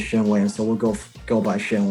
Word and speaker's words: Shen Wang: That's how he pronounced his name, Shen Wang. I think he's if you say it the right, if you say it in Mandarin, you'll be Shen Wang. Shen Wang. But he says Shen Wang.